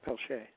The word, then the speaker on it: Peltier: I was like, oh, Peltier. He's like, no, it's Pelche.